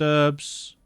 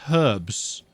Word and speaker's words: herbs: you can craft mixed herbs okay I don't know why I started pronouncing that with the soft H I'm British mixed herbs I thought a guy